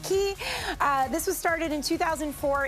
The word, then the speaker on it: Quay: a brand called key looks like it's pronounced Quay it's actually pronounced key this was started in